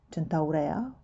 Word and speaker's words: Centaurea: name of this flower centuria i think it's in english but i will use the pronunciation that is natural to me chentaura which is also if i'm not mistaken very close to latin probably the first thing